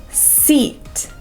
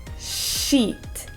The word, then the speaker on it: seat: next number eight is seat a common way of mispronouncing this is instead of saying s seat many people say sheet like the Japanese she sound but that's a different word a sheet is something